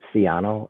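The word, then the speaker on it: Sciano: i didn't catch your name and could you spell it for me please sure it's siano s-c-i-a-n-o and both the owner and the contractor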